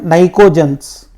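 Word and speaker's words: pnictogens: और इसका नाम है नाइकोजेंस। क्या बोलते हैं इसको? नाइकोजेंस। पी साइलेंट रहता वहां पे।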